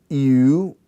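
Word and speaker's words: ευ: I, ow, oi, omicron iota, eu, which is feud, and then the last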